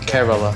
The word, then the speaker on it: Kerala: From Kerala. Kerala? Kerala. I can't pronounce anything.